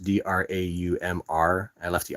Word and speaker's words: draumr: Yes, the dromer comes from dream in Old English, but it's pronounced Draumr.